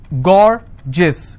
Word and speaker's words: gorgeous: So gorgeous, 2 syllable, I will stress on gore.